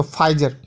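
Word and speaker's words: Pfizer: तो अब आप ही गौर करें कि किसी कार्टून में फाइजर के बारे में, इसमें देखिए PHIZER जो लिखा है उसमें P साइलेंट है, तो फाइजर, ठीक है।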